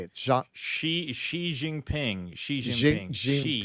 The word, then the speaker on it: Xi: Xi. It's like she. It's not she and it's not Z. It's like a mix.